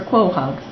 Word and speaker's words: quahog: Q is for quahog.